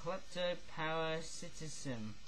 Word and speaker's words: kleptoparasitism: Am I saying it right, though? Kleptoparasitism. Yes, that's the right way of saying that word, eh?